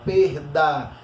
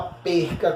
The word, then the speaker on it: perda: Aí, perder, eu tiro o E e o R e coloco a vogal temática a perda. E não a perca, como algumas pessoas costumam, né, pronunciar.